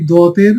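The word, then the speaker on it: ض: তো প্রিয় শিক্ষার্থীগণ, দেখুন, জিহ্বার কিনারা, জিহ্বার কি কিনারা মাড়ির দাঁতের গোড়ায় স্পর্শ করুন, ডান দিকে অথবা বাম দিকে। অর্থাৎ আমাদের যে জিহ্বা আছে এই জিহ্বার যে কোনো এক পাশ কি করবো আমরা, যে কোনো ডান পাশ অথবা বাম পাশের সাথে লাগিয়ে আমরা বলবো দত।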